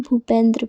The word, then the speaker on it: भूपेंद्र: तो दोस्तों, जब बी के बाद H आए तो हम उसका उच्चारण भा करते हैं। जैसे कहीं भी आपको BH दिखे तो उसको हम भा पढ़ेंगे। जैसे कि BHUSHAN, इसको हम भूषण पढ़ेंगे।